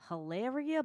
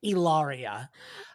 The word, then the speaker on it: Hilaria: Hilaria Baldwin with Deanna Chang. She would cut her throat if she heard her name being pronounced like that. It is Ilaria.